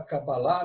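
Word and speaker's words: קבלה: agora é claro que a Cabala é a cabalá né como se fala em hebraico né a cabalá é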